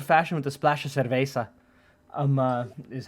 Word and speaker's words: cerveza: Well, it's a tequila old fashioned with a splash of cerveza.